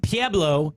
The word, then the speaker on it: Pueblo: was limited we had P a blow if you live in Pueblo it's not Pueblo color it's PA blow Colorado I was on p.a